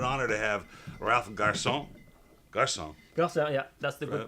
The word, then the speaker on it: Garcin: Garcin, yeah, that's the good pronunciation.